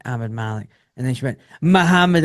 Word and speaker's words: Ahmad Malik: Ahmed Malik, and you spell that Madmalik, which is obviously a name that is of, I would assume, Pakistani descent. Is this true? Yes. Yeah. But it's Ahmed Malik.